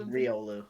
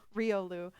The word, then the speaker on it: Riolu: mispronounced this Pokemon's name I always pronounce it as ryolu but I feel like it's ryolu yeah I think it's Riolu Rio Lou but I uh I'll switch between the two um I feel like